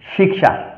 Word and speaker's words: শিক্ষা: এবার ক্ষেত্র এবং শিক্ষা হচ্ছে আমাদের বাংলা উচ্চারণ। এই ক্ষেত্র এবং শিক্ষা অর্থাৎ এই কিয়কে, এই কসমলিক্যকে সংস্কৃতে কিরূপ উচ্চারণ করব, তাহলে অবশ্যই এটাকে উচ্চারণ করবো আমরা ক্ষেত্র, এবং এটাকে উচ্চারণ করব শিক্ষা।